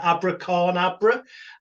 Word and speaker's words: AbraCORNabra: I can never pronounce it right. AbraCORNabra.